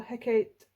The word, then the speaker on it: Hecate: Hecate, or Hecate in Hecat in Shakespearean. Apparently it's pronounced Hecate, but Hecate.